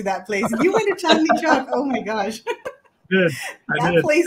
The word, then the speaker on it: Chandni Chowk: to check out the, help me with the pronunciation, but Chumla Chak Market or something, and right outside of the old Delhi. Oh, Chandni Chowk. Yes. Did you go there? Are you serious? You went to Chandni Chowk?